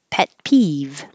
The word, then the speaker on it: pet peeve: Pet peeve. Don't release the T, pet. Just hold it.